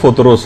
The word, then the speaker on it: فطرس: فطرس کا، فطرس۔ اچھا، اس کو الگ الگ طریقوں سے لوگ پکارتے ہیں، لیکن اصل میں اس کا جو تلفظ ہے وہ فطرس ہے۔ اچھا، اس فرشتے کا